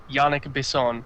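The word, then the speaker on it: Yannick Bisson: An interview, little side note, interview says Yannick Besson. That's how he himself pronounced it, so I was right.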